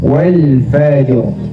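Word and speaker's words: والفجر: 3 W ya Janu walfajro itu tidak tepat dia kan kita wakaf Jadi dibacanya walfajr Oke lanjut wayalin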